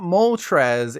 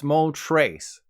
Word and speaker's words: Moltres: It's not Moltres, it's Moltres. I know, it should be obvious given that I mentioned Uno Dos Tres earlier, but I blame this on my younger self.